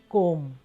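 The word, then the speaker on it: comb: अखबार, न्यूज़पेपर, कंघी, कोम, इसमें बी साइलेंट है, हमने जब साइलेंट लेटर्स किए थे तब भी किया था। इसकी आवाज़ सिर्फ आएगी कोम, ब की आवाज़ नहीं आएगी, बहुत हल्की सी।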